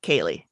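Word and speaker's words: ceilidh: which one is correct however that spelling i did pop into google yeah and it is kaylee okay and it is also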